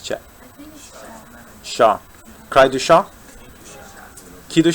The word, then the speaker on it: chat: How do you pronounce Chat? Shah.